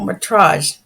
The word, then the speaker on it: Métrage: No, I'm just going to correct the pronunciation. So it was the Festival de Cannes Métrage. Oh, Métrage.